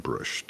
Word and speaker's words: Brust: Gets us back to our old buddy Stephen Brusht. Stephen Brusht, if you haven't read him, is a brilliant writer, lots of fun. The Jereg series, Jhereg, and Brust is spelled Brust, Hungarian American.